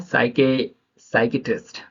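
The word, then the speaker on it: psychiatrist: एस से पहले आया पी साइलेंट होता है।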